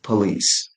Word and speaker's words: police: It's police. So if you know about soundwah, that first syllable with o becomes unstressed.